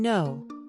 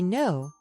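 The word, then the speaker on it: know: Also, remember the silent k in no. You say no, not ku, no.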